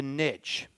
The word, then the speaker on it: niche: And finally, in the solution is this concept of a niche. I think if you want to be successful, you got to have a niche. Niche rhymes with rich.